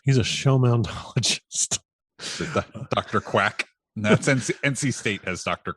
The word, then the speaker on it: Quack: It's pronounced Quack.